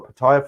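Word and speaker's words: Pattaya: look forward to in Patia or Paya for those who like to say it like that is a lot of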